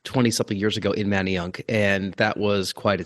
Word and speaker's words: Manayunk: know how to pronounce Manayunk if they see the word yeah they always have the emphasis on the y-u-n-k they go they call it many young and I'm like dude